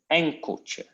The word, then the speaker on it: enkeltje: Okay, difficult to pronounce enkeltje. Yeah, it's enkeltje.